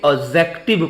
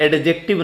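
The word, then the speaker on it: adjective: सिर्फ एडजेक्टिव दिया हो याद रखिए इसे एक्जेक्टिव पढ़ते हैं यहां दी साइलेंट होता है एडजेक्टिव नहीं पढ़ा जाता तो यदि वाक्य में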